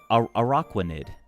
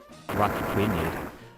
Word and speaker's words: Araquanid: Araquanid? Well, no, it's Aqua, right? So it's like Araquanid. Not Rockquinid.